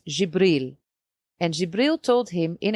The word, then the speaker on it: Jibril: In Arabic, you pronounce it as Jibril.